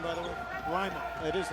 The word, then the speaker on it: Lima: Is that the correct pronunciation, by the way? Lyman. It is Lyman.